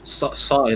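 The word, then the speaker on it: Saïss: Sai like the Gangnam Style. There you go. Yes, like that. That's like yes. Pronouncing it phonetically, like the Gangnam Style. Like Gangnam Style, I would say more Sai like Hangover featuring Snoop Dogg, which is of course Sai's best song.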